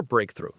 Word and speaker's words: breakthrough: The stress is on the first syllable. Breakthrough. Breakthrough. Pay attention to that th sound in through. It's a soft sound made with your tongue just behind your top teeth.